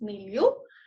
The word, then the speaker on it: milieu: I think it's milieu. Yeah, it's milieu.